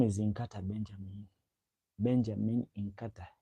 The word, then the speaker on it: Nkata: My name is Inkata. Inka. N K A T A. But that person they couldn't pronounce it in the right way. So you he used to call me Kata Kata.